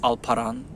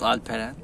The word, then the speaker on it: Alperen: People pronounce it as Alperen, but it's called Alperen.